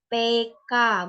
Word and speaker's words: peka: kata yang dilafal misalnya pada kata peka biasanya dilaporkan peka kan padahal pada kamus besar Bahasa Indonesia itu dia seharusnya pelafalan itu PK bukan peka dia PK menggunakan e-taling seperti pada kata ekor meter besok dia menggunakan bukan pekat